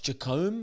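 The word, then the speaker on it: Jacomb: there yes J I think it was Josh jacome is how you say his second name he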